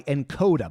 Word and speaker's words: Nkoda: This episode is brought to you by Encoda. By the way, that's spelled Nkoda.